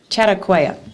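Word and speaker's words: Chautauqua: um Chad how do you say that chatt chatauqua there you go programs were done for adults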